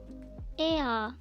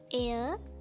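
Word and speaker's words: එයා: Ea, e, ya, ea, ea. It's not air, it should be ea, ea.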